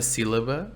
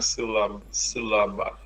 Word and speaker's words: sílaba: When the S is at the end of a syllable, S no fim de uma sílaba é sh. Es Right. fim de uma sílaba. There's an accent here. Sílaba. Sílaba. Muito bem.